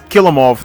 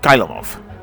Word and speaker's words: Kilemov: intro by the way you mispronounced my name it's not and it's kill em off not kylo love oh whatever text to